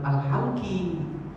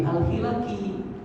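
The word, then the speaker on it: الحِلَق: Kemudian kata beliau, aku pun mendekat kepada beliau dan menyampaikan, wahai Ustaz, yang ku tahu ini bacanya bukan al-halqi tapi al-hilaki. Ini bukan larangan bercukur, tapi larangan untuk mengadakan perkumpulan-perkumpulan, acara-acara sebelum sholat Jumat.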